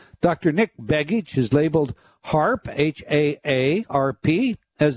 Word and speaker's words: HAARP: known for his work and published materials surrounding harp that's spelled ha A A RP however he is